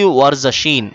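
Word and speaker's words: ورزشیں: এইসি ওয়ারজাশিন, উচ্চারণটা খেয়াল করেন, ওয়ারজাশিন। ওয়ারজাশিন অর্থ হলো চর্চা, শরীর চর্চা।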